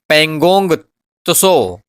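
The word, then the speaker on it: Pangong Tso: लद्दाख में देखिए पेंगोंगसो झील स्थित है। यह भी आपको झील का नाम याद रखना है जो कि पढ़ने में थोड़ा सा आप इसे पगोंगसो पढ़ सकते हो टी को साइलेंट करके।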